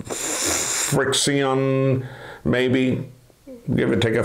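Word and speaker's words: FriXion: by pilot it's called Fri x io n friction maybe give it take a few pronunciations it has a special type of ink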